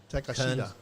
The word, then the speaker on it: Takeshita: Takeshita. It's Takeshita. That's how it's pronounced.